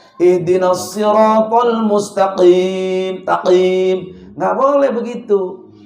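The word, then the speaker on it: مستقيم: Jangan mustaqim. Ada yang begitu bacanya. Ihdinas siratal mustaqim. Taqim. Nggak boleh begitu. Jadi huruf qaf ini ada di pangkal lidah. Jadi qaf itu pangkal lidah.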